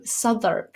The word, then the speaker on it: Southwark: So, you know, um, Sodur, for example, in London is spelled Southwark. Okay. But it's Sur.